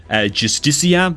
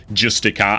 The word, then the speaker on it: Justicia: Like 15 missions time, I actually have to fuse Justicia. Some people pronounce this Justica. I think that objectively says Justicia after playing Baldur's Gate 3.